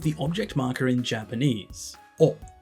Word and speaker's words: を: here we have the object marker in Japanese o it's written as W but it's pronounced as just o and this marks the direct object in the